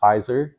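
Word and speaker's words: Pfizer: the big companies is fizer uh spelled with a p PF and then madna it's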